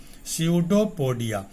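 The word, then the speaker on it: pseudopodia: तो अमीबा का प्रचलन अंग है कूटपाद, इसको अंग्रेजी में स्यूडोपोडिया कहते हैं, यहाँ पी साइलेंट है, स्यूडोपोडिया।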